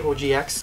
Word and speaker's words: OGX: body wash by organics or OGX is how you say oh gee X I have used this